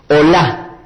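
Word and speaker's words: olah: vendría a ser allí la Met y Hey hola pronuncien conmigo Hola Este es el primer tipo de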